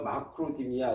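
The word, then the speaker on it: μακροθυμία: 첫째는 이제 오래 참음만 좀 말씀을 드리면 헬란 말로 마크로디미아 이렇게 발음합니다.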